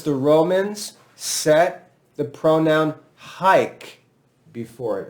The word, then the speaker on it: hic: Because the Romans set the pronoun haik before it. And I'm using classical pronunciation. Haik, because it's easier to spell classical pronunciation.